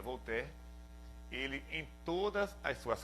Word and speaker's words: Voltaire: Por exemplo, Voltaire, um filósofo muito conhecido, na verdade se escreve Voltaire, né, em português, mas se pronuncia Voltaire.